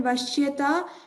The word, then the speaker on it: वश्यता: So here in vashyata, pronounce this as sha. It's a sha in Shiva.